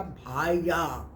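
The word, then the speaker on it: Bahia: بھائی کو کہتے ہیں۔ وہ اپنے مراکن تلفظ سے یہاں قدرے چبا کے بولا بھائیا۔ یہ محل کیا تھا؟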